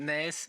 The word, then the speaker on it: Nijs: In Flemish, my name is Nijs, but and you pronounce it differently. But sometimes people abroad call me Nice, but that's okay. Okay.